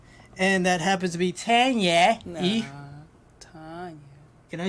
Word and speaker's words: Tanya: They always want to just say, well, no, you're not pronouncing the A. It's still Ah. So it's Tanya E.